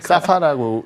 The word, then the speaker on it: 사파: SAFA라고 읽어요? 사파라고 읽고요.